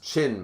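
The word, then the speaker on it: Qin: hades yeah haiti's gonna win viv said it's pronounced chin by the way what quinn quinn is pronounced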